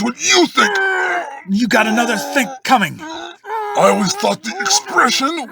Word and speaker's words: another think coming: I always thought the expression was another thing coming. That's because the K sound at the end of think blends with the C sound in coming. So think coming sounds like thing coming.